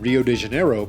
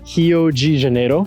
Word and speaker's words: Rio de Janeiro: Alright, what up, is Leonidas here in Copacabana, Rio de Janeiro. In English it would be Rio de Janeiro, but in Brazilian Portuguese you pronounce the beginning R's of any word as an H.